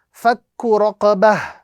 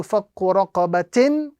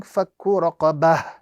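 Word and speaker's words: فَكُّ رَقَبَةٍ: So we are going to be pronouncing fakku raqabah as opposed to fakku raqabatin. We are going to be reciting fakku raqabah.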